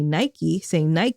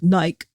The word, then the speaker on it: Nike: the company was founded, say Nike, but you go over to the UK and they're like Nike.